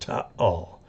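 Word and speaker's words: Taal: to all is uh it's spelled ta a l and each a is pronounced T all and uh it's a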